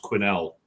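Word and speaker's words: Quesnel: and I I believe the one place is pronounced Quinnel.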